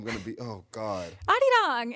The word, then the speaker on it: 아리랑: song in Korean and full Korean, but it's Arirang. But it's a Arirang. Korean folk song. It's like an I old cannot school. be walking around here saying Ari Rain.